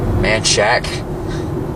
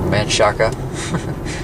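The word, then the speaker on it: Manchaca: are there you go manshack right there or man Shaka if you're from somewhere that knows how to pronounce Spanish words all right take a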